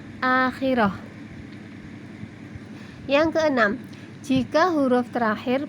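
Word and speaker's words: آخرة: Akhiratun, dibaca akhirah.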